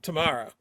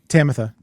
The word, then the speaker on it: Tamatha: And I think everybody here that that jumped on uh Tamara over her, sorry, did I say the name wrong? Tamatha.